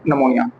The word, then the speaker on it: pneumonia: में हमने डिस्कस कर लिया था आज हम निमोनिया के बारे में डिस्कस करेंगे जो यह टर्म